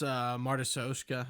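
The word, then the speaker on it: matryoshka: No, that's Martysoshka, I think is how the word's pronounced.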